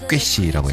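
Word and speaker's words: köszi: 두 글자로는 꾀씨라고 해요. 꾀씨. 따라할 수가 없는 발음이에요.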